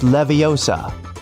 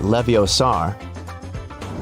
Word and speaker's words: Leviosa: Hey Siri, it's Leviosa, not Leviosar.